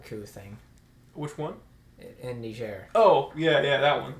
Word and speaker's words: Niger: that you've been saying Niger wrong it's not pronounced like that that's pronounced it's because it's French actually it's Niger yeah I feel like